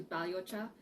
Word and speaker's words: balhyocha: green teas last week let's get today to baliocha uh you can spell it b a l y h y o